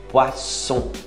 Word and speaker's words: poisson: Poisson, não é são, nem ão, de aotil não, poisson.